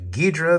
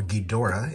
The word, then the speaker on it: Ghidorah: all right movie five guidra the three-headed monster another of my favorites or ghidorah if uh if you prefer i've heard it pronounced both ways i've always said guidra okay only a single